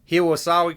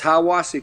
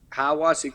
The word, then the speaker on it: Hiwassee: Now, you started your coaching career at if I pronounce this right, Hiwasawi College in Tennessee? It's Hiwassee College. Hiwassee College, about 60 miles outside of Knoxville.